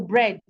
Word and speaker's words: bread: There are some words that might have EA, okay, EA that are not pronounced as E. For example, bread. Let's say I have words